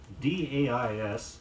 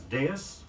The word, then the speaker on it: dais: A dais, D-A-I-S, is a raised platform. It may be pronounced as dais or dais.